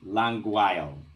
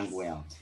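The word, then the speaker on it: Langweil: Languile. Yes. Languile.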